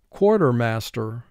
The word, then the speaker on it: quartermaster: within a military unit cor tur mass tur four syllables first syllable core three sounds the first two sounds qua or tur two sounds er mass three sounds um tur two sounds er core tur mass tur take a moment